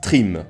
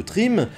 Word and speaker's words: Thrym: Arrivé à destination, celui-ci engagea la conversation avec le géant de glace, Trim. Et là, bien sûr, je prononce à la française.